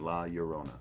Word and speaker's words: La Llorona: another interesting thing so let's pronounce it like there's a y instead of two l's in the last word la yorona yorona that's is perceptive in